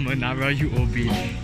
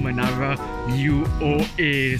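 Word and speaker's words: Menara UOA: and what i realized it's not called manara uob it's actually called manara u-o-a so i realized i've been saying it wrong for the past this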